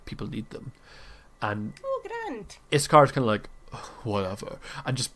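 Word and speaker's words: Yscar: I think Iskar kind of raises an eyebrow at you. By the way, that's spelled Y-S-C-A-R.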